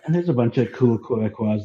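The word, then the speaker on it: Québécois: Any thoughts on the Quebecois question? I wonder if I pronounced that correctly.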